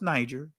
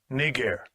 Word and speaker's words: Niger: You see it right there, derived from Latin, and it's not pronounced Niger. It's pronounced, this way. Strong's G 3526, Niger. All right.